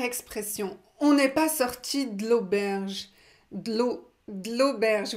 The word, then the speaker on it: de l'auberge: On n'est pas sorti de l'auberge. De l'auberge. Vous avez vu comment je prononce? Je ne prononce pas le E.